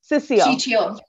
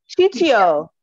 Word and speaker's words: Ciccio: Anita helped, pronounce it for me again. Ciccio. Ciccio.